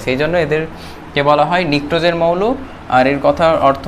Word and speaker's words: pnictogen: তো নিকটোজেন মৌল এর ইংরেজি বানানটা হচ্ছে PNICTOGEN, নিকটোজেন।